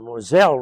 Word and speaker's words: Moselle: When we were in France, I referred to the Moselle as the Moselle River, but found out later the proper pronunciation is Moselle.